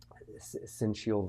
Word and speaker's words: syncytial: Now that might be something that some viewers, listeners aren't familiar with, but respiratory syncytial virus is the way it's pronounced, that just stands for RSV.